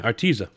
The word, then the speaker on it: Artesia: Yeah, Artesia. That's how you pronounce it, I think.